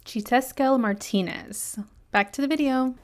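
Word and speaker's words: Xiuhtezcatl: editing press here to tell you that it's chitesquel martinez back to the video but this is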